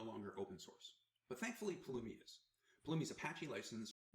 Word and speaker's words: Pulumi: Terraform is no longer open source but thankfully Palumi is Palumi's Apache license.